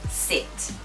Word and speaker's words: sit: Be careful to correctly pronounce sit, as in 座る. Do not mess that up by putting し. It is sit.